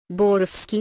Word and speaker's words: Borowsky: Lieutenant Reed 152 Mayweather borofsky said pronouncing the W almost but not quite like a V her expression went from